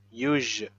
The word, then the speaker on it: usual: So s, u here pronounced as j, usual.